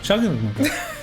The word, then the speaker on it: Shylmagoghnar: Shylmagoghnar. And the song is Transience. That we can say. It's spelled Shylmagoghnar. That's what I said. Shylmagoghnar.